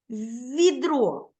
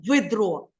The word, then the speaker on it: відро: м'який чи твердий уважніше відро Ми ж не говоримо видро Ми говоримо відро м'яко да вимовляється М'який приголосний